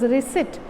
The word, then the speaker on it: receipt: not received this is reset r-e-c-e-i-p-t is sit okay p is silent here intact enclosed are the